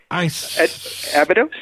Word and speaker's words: Abydos: Abydos? Yeah. It was the gate of Osiris. It was, at Judgment Day, the Egyptians believed that Osiris would come back through the portal or gateway at Abydos and take the righteous ones into the dimension